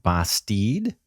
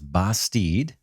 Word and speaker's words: Bastide: on a game called basteed i checked with the developer on that pronunciation so i believe it's basteed so let's just jump